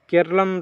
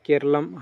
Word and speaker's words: केरलम: उत्तरादम पर्व आपका option C केरलम केरलम राज्य जो केरला से केरलम बन गया। याद रखिए केरलम हमेशा इसे प्रोनाउंस कीजिएगा। केरला नहीं तो केरलम में उत्तरादम पर्व मनाया गया।